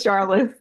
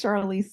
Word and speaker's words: Charlotte: So, I, Charlotte, would you tell David how to pronounce your name? It's Charlotte. They were struggling with pronouncing my name, and I said, well, David's a really sensitive guy, and he's known me for a while, and he still says Charlize, so don't worry about it.